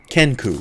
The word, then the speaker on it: Kenku: Is that what the, maybe I'm saying the name wrong. Back in the same world. It's Keknu, right? Kenku.